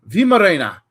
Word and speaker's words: Weimaraner: looks like it's Weimaraner. Weimaraner, Weimaraner. It just I can't do it. Weimaraner. You got Weimaraner. So the WEI is VI. That's how you'd pronounce it. So Weimaraner. Vimarena.